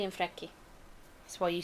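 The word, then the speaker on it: Freki: He has been linked to the legend of the Odin's hounds, though they were actually two wolves called Jerry and Freaky. Close, Gerry and Frecky.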